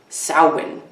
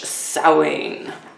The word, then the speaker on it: Samhain: My dear Sagittariuses, happy Halloween / Samhain in advance here.